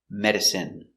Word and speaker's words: medicine: jasmine tea very good so remember these special words ending with i n e we pronounce them all the same in in remember medicine margarine intestine or intestines more than one genuine famine remember it's countable a famine famine and Jasmine hello welcome to English for